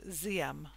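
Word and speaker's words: Diệm: republic of south vietnam his name is diem i hear it often also pronounced as siam so we will pronounce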